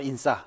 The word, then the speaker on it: 인싸: 인사이더의 앞부분을 줄여서 인싸, 네네. 세게 발음해서 그렇게 하고요.